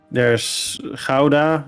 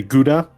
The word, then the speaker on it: Gouda: Okay, there's Gouda, or Americans say Gouda. Gouda, yeah, that is how it's said, yeah.